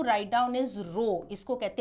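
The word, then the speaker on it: ρ: Means density का shortcut to write down is रो इसको कहते हैं रो आर एच ओ आपको पूरे स्पेलिंग लिखने की जरूरत नहीं है यू can just make this symbol जिसको हम रो कहते हैं।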